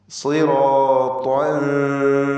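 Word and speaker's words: صراطا: താഇന് പൂർണ്ണമായ തഫ്ഖീം കൊടുക്കണം എന്ന് നാം പറഞ്ഞു. താഇൻ്റെ ഫത്ഹ് പൂർണ്ണമായ തഫ്ഖീമോടെ മഫ്തൂഹായ താ ഉച്ചരിച്ച് ഉടനെ തൻവീനിൻ്റെ ശബ്ദം തർക്കീഖോടുകൂടിയുള്ളതാക്കി മാറ്റണം. സിറാത്തൻ സവിയ്യ.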